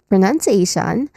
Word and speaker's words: pronunciation: of course pronunciation wise pronunciation there's um yeah there's a five there's five distinct sounds here. Let's start with first syllable pro which you know sounds like the beginning of professional professor something like that but